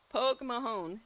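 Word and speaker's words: póg mo thóin: Poke Mahone. That That's how you say it. Well, you probably say it with a little bit thing. I'm saying it with a southern accent, but uh yeah, Pog Mahon.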